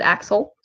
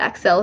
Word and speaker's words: Axel: me exhales funny um I do pronounce it axel but Excel is fine too because whatever honker um